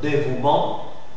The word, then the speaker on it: dévouement: vOYEL suivi de e exemple dévouement dévouement d'accord gment gment alors là tu trouves que la terminaison e le E e on ne l'articule pas ok bien le mot